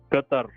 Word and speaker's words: Qatar: United States absolutely where are you from originally Qatar you're from Qatar yes did I did I